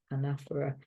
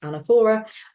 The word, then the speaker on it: anaphora: And we have the anaphora of the, you can say anaphora, sometimes pronounced anaphora, which is the repetition of words or words at the start of successive sentences or clauses.